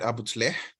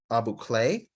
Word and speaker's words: Abu Tleh: 17th of January at Abu Tleh. The British mispronounced the name of this area as Abu Kleh, and wrote many poems about it.